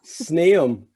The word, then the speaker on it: Sneum: How do you pronounce it? Kim. Kim. K-I-M. Sneum.